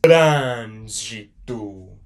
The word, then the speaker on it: Trânsito: So you're pronouncing it more like a closed vowel sound right there.